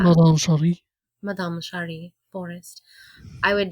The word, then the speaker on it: Madame Sherri: So yeah, that's Madame Sherry Forrest, and when you say it, you have to say it like that. Madame Cherie.